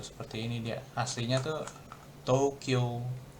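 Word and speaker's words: 東京: Tokyo. Tokyo. Hmm. Jadi kalau orang Jepang bilangnya Tokyo, Tokyo. Jadi O-nya yang panjang, U-nya kayak nggak ada U.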